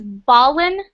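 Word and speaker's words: ballin: What is Balin? Is a golf ball or something like that? No. The pronunciation is Balin.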